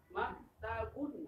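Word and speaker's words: مكتبٌ: abun jangan k maktabun suaranya u engak ada O dalam baca bahasa Arab demikian pula dalam bahaca al-qur'an nanti kita perinci Insyaallah dalam Bab Tahsin jadi bacanya u jangan on oh hadza maktabun hza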